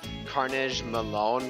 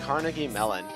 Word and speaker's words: Carnegie Mellon: Also, in a pretty interesting situation, I finally learned how to pronounce Carnegie Mellon. I'm pretty sure I was saying like Carnage Malone for like the longest time because I was